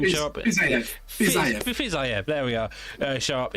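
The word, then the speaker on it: Fiziev: Maybe we get to see Rafael Fizz, I can't remember how to pronounce his name. Fizzayev, there we are.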